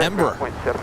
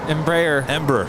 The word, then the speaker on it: Embraer: How do you say Embraer? Embraer. Ember. Ember. This sounds like embers, like, you know, on a fire.